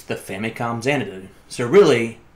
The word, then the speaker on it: Xanadu: I'm getting at is the X should be pronounced like a z like Zen do but